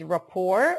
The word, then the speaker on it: rapport: okay the pronunciation is Rapport we do not pronounce the t raor is the relationship